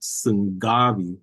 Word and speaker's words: sungabi: You don't actually pronounce that G, okay? So it's not sungabi, sungabi. Rather, it's just simply sungabi, sungabi, sungabi, sungabi.